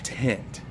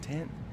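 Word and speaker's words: Ttentt: His dance name is Tent, but it's spelled awesome. It's T-T-E-N-T-T, pretty rad.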